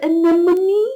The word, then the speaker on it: anemone: Most of us don't really need the word anemone very often, but it's just common as being a word that's really difficult to say. Anemone. It's pretty much how it's spelt, really.